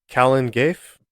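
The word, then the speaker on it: Calan Gaeaf: this one up either it is spelled c a l a an it's two words and the second word is spelled GA a e a f Kalen G please forgive me if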